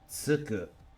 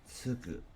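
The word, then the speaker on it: 就く: Tsuku. Alternate pronunciations are shu or ju. Tsuku is to commence something, to start it, to be an apprentice to someone else, or to take it.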